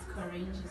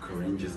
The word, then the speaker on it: Koranges: It's Koranges art. Koranges art. Ooh. Like oranges with a K.